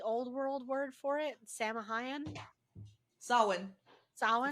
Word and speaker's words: Samhain: Samahayan? Samhain. Samhain? It's pronounced Samhain.